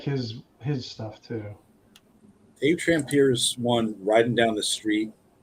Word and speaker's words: Trampier: yeah, I wish David Trampier. That's how you pronounce it, Eric.